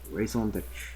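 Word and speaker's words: raison d'être: It isn't etre because it's not pronounced that way. It's raison d'etre. I think it's like d'etre. Like, it's supposed to be very seamless. It's like d'etre's like, it's like d'etre. It's a one syllable. It's like, it's just, it's one thing. That's the best way I can put it to make a sense. Is it's just one thing, you know?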